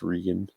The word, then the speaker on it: Regan: No, it is spelled Reagan, but it's pronounced Regan.